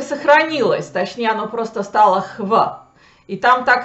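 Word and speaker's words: hvit: более-менее так и сохранилось, точнее, оно просто стало хв. И там так и пишется hv.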